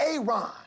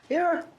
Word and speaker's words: Aaron: Aon. Aaron. Why didn't you say it the first time I said Aon? Because it's pronounced Aaron.